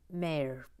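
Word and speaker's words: Maire: good luck on emma she's irish it's pronounced mere easy peasy he she's just spelt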